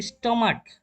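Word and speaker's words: stomach: যেমন আমাদের দুইটা ওয়ার্ড আছে এখানে, একটা হচ্ছে স্টমাক। স্টমাক, ক লাস্টে কি সি এস, স্টমাক মানে ছেড়েছেন ক হয়েছে, সেক্ষেত্রে এর যোগ করে দিয়েছে।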